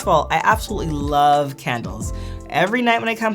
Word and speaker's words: KNDLZ: The next company that I'm gonna talk about is a company called Candles. It has a really unique spelling. It's spelled KNDLZ.